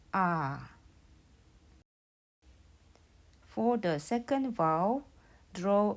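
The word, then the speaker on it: ㅏ: line to the right it is pronounced ah for the second vow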